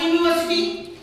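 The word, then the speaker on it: university: যেটা থাকবে ভাওয়েল কিন্তু উচ্চারণটা কনসোনেন্ট, যেমন ইউনিভার্সিটি, তাই তো?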